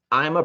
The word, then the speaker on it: Ima: I'm a Pearl.